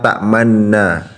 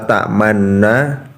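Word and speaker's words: تأمنا: Nah, pada saat kita membaca la ta'manna, kita saat membaca nun yang pertama kita memonyongkan bibir kita, lalu setelah menariknya kembali pada saat membaca nun yang kedua dan lalu melafalkan nun yang kedua.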